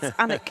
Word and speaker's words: Alnwick: This place, Alnwick, is it Alnwick or Anwick? Which one is silent?" And my mum says, both. It's Annick.